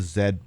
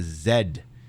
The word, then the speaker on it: Z: She just called it the Zed button. That's how you know they're Canadians. Cuz Canadians don't pronounce it the letter Z. It's the letter Zed.